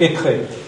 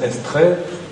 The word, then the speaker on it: Étré: Un autre mot qui indique une route, c'est Étré. Souvent, maintenant, on prononce Estrée, parce qu'on a plus l'habitude, c'est souvent écrit Estrée d'ailleurs.